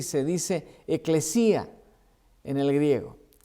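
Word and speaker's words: ἐκκλησία: La palabra griega de la iglesia significa, se escribe y se dice eclesía en el griego.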